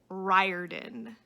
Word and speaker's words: Riordan: the lightning thief and according to the little intro that the guy gave the author's name is rick riordan riordan i was so sure that i was pronouncing it incorrectly and i absolutely was so rick riordan